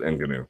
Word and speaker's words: Ngannou: Okay, well, people who want to pronounce it that way can. I'm going to pronounce it Ngannou.